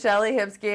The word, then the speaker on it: Shellie Hipsky: Shellie Hipsky, is that? It is Shellie Hipsky, and that's spelled Hipsky, so that they can remember.